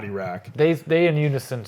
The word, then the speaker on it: Iraq: When they scored, I start screaming, Iraq is back, Iraq is back, which sounds fire, but I think it's pronounced Iraq and not Iraq.